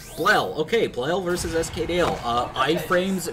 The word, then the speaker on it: Blel: pronounce his name? Blel. Blel.